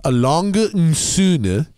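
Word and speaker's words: A. Lange & Söhne: And it's actually pronounced Alang and Son.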